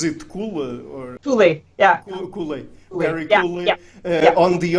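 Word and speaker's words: Kuhle: I hope I don't butcher his last name, because I'm not sure how it's pronounced. Is it Kule or Kule? Yeah. Kule.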